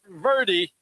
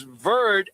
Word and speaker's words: Cape Verde: the only Dan Manucci, corrected everybody on the pronunciation of Cape Verde. Verde. It is not Verde. It is Verde, and guess what?